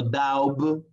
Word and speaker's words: doubt: No doubt, no, sino doubt. ¿Ok? Esas, chicos, son algunas palabras en las cuales no pronunciamos la B.